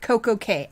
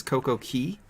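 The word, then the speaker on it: CocoCay: caribbean's perfect day at coco k i say it coco k i've heard it say coco key i don't really i think the correct pronunciation is coco key and that is the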